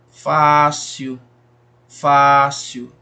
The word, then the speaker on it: fácil: Fácil, fácil. Se prolonga mais aí, dura mais tempo na pronúncia, o Fá.